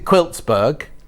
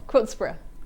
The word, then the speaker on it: Quiltsborough: And this is Christmas in Quiltsburg. No, that's wrong. Quiltsborough. Quiltsborough. Like Edinburgh.